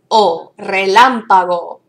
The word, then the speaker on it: relámpago: And where you see that accent, that's where the emphasis of our pronunciation is going to go when we say it as a word. Relámpago. Do you hear the emphasis there?